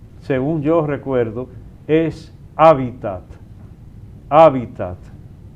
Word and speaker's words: hábitat: Hábitat con el acento ahí donde suena la primera a H a hábitat porque la gente lo pronuncia de otras maneras.